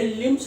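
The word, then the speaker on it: limbs: और यहाँ पर एक खास बात है, बी का जो है वो उच्चारण नहीं होता है। Be here doesn't take any sound, इसकी साउंड जो हिडन है, छुपी हुई है, ये लिम्स बोला जाता है, लिम्स नहीं बोलेंगे, लिम्स।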